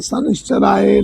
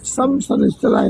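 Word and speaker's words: शनैश्चराय: सुध उच्चारण के लिए ओम संग शनिश्चराय नमः ओम संग शनिश्चराय नमः मा नहीं बोलना है। शनिश्चय नमः नहीं।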